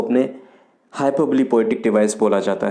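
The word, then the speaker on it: hyperbole: Next है हाइपरबली। इसका जो करेक्ट प्रोनाउंसिएशन है वो हाइपरबली है। बहुत सारे लोग इसको हाइपरबोल बोलते हैं, हाइपरबोली बोलते हैं, but according to the Oxford dictionary the correct pronunciation is हाइपरबली।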